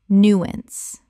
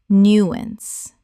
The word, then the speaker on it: nuance: nuance Correct pronunciation. nuance Two syllables with the stress on the first. The ow makes an ah sound.